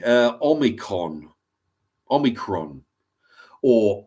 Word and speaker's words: Omicron: you know thank you George C uh omicon Omicron or omnicron as uh George as as kiddie sniffer Biden would pronounced it the other day um omnicron Omni